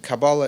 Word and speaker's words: Kabbalah: And Kabbalah is how I'm pronouncing it. Of course, you can tell my European background. It could be Kabbalah, Kabbalah, Quabala, however you want to spell it, with a Q, with a K, with a C. They're all incorrect because Kabbalah is a Hebrew word. It's with a kuf.